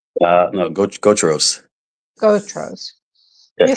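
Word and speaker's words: Gautreau's: How do you say Gatros? No, go Tros. Gotros. You say, I'm from Maryland. I can't pronounce that.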